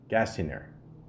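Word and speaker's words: Gasteyer: shit, I always say his fucking name wrong. Anna Gasteiner. Gasteiner.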